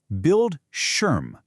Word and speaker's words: Bildschirm: Bildschirm. The I is short and punchy and that sch sound, it's just like the sch in a word like shoe.